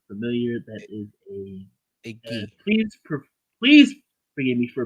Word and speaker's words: gi: For those who are not familiar, that is A gi. please forgive me for mispronouncing if I mispronounce it.